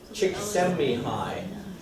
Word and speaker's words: Csikszentmihalyi: his name is me hi Csikszentmihalyi mean I'm chicks mb hi to can we repeat that me I chicks